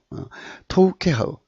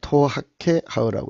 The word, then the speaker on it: תּוֹכֵחָה: 아까 제가 발음을 좀 잘못 토아케 하우는 토우케네요. 토우케 하우. 예. 아까 제가 토하케 하우라고 그랬죠. 토우케 하우입니다. 토우케 하우.